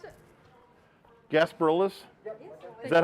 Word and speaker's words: Gasparilla's: Gasparillas? Is that how it's pronounced? Yep. Okay. Gasparillas.